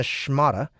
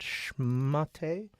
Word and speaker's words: schmata: town dressed in a schmata... How's that pronounced? Schmate? No, that's not how you spell it. Schmat. Schmat. Hold on. Let me make sure. Schmata. Schmata. No, It is schmata.